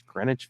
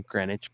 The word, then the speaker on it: Greenwich: of New York City's Greenwich Village. The W in Greenwich, by the way, is silent, kids, and it's the only thing in the area that is.